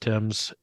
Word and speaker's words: Thames: and you know like Thames but it's actually pronounced Tim's uh that Source dried up uh two weeks